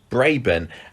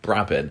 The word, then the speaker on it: Brabin: we said before she was played by tracy braban which i keep having to train myself to say the right way because i think i've gone many years of thinking that that name has been pronounced brabin and it was only um i think it